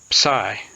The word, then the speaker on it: psi: Sigh.